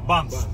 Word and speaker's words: Banff: Papunta kami ngayon ng Banff. Banff. Ang hirap yan eh. Bump ano pro bump. Paano i-pronounce? Bump na lang yung Filipino way.